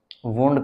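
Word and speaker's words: wound: चलो, ये देखो वर्ड, इसको प्रोनाउंस कैसे करते हैं, साउंड करते हैं, बट इसको हम प्रोनाउंस वुंड करते हैं, इसको वाउंड नहीं करते हैं।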